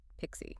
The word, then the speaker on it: PKCE: PKCE pronounced Pixie.